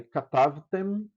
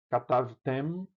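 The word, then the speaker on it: כְּתַבְתֶּם: Aí katavtem, katavtem, katavtem, vós escrevestes, masculino. Katavten, vós escrevestes, feminino. Vejam a diferença. Katavtem, você fecha a boca para pronunciar o mem.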